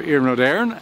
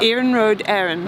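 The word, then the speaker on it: Iarnród Éireann: I'm the Corporate Communications Manager for Iarnród, Éireann.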